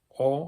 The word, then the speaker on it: og: less like an old the G is kind of silent I would think and in Swedish it's